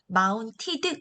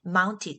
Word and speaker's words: mounted: 자, 발음 조금 체크 한번 해볼게요. mounted 당연히 이렇게 안 들리겠죠? 보통 이제 영어 발음에서는 한국 사람들이 으 사운드를 자꾸 집어넣는 거거든요. 그 으 사운드가 빠지면서 mounted 요거가 아니라 mounted 이렇게 멈춰버리는 소리로 들릴 것이에요.